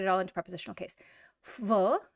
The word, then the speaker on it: в: В, but it's going to pronounce more like a F.